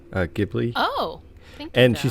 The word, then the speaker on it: Ghibli: uh i think she's saying that you did pronounce it correctly uh ghibli oh and she said it's so good so